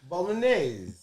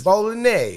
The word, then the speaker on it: Bolognese: Bolognese. There you go. It's Bolognese. I don't know how to pronounce it when I told read y'all it was a Bolognese sauce yesterday, motherfuckers.